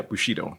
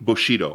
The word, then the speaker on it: Bushido: And I always tease you because I never can pronounce it. And it's Bushido, right? Yeah, Bushido. Bushido.